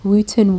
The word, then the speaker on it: Wootton: pronounced Wooten W.